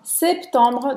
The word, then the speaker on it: septembre: Donc, le 23, septembre, dia 23 de setembro. Septembre. Septembre. A gente fala o septembre. Septembre. Essa vez não é mudo.